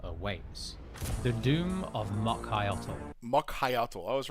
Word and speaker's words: Mokhyotl: you're skilled enough to we got an official pronunciation. Hold on. dangerous than a Nagua awaits. The Doom of Mokhyotl. Mokhyotl.